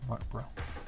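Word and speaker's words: Martinbrough: M-A-R-T-I-N-B-R-O-U-G-H, Martinborough.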